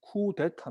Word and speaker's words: 쿠데타: 뭐 음력을 하기도 하는데 정확한 발음은 쿠데타 입니다 그러니까 쿤은 뒤집는 거에요